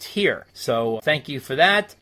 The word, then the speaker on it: Tyr: on the Black Sabbath album tyr which is pronounced here so thank you for that letter number 19